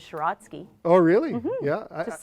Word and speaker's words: Siracky: Siracky in Ukrainian is Shiratsky.